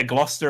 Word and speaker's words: Gloucester: Python sketch oh yeah Gloucester as well yeah we just you know it looks like there's three syllables in there but we just get rid of them all isn't it like Glass